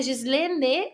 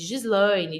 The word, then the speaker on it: Gislene: o meu como exemplo meu nome é Gislene isquerdo Ah é danado por aí me chamarem de Gislaine de Gisele então leia o nome